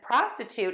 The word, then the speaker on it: prostitute: For prostitute, we're going to add a T to that middle syllable, ta, and then we're going to end in toot.